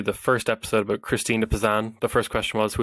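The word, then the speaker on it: Christine de Pizan: you have one medieval feminist you just have Christine De pazan is that how you say it Christine pazan yes uh what what who was she and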